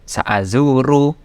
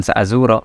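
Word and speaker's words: سأزورُ: Nah, lihat kata sa'azuru, dia tidak diawali dengan an, tidak diawali dengan lan, tidak diawali dengan idzan, bacanya tetap sa'azuru, bukan sa'azuro.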